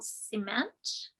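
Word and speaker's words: Ciment: And The Body in Question by Jill Cement.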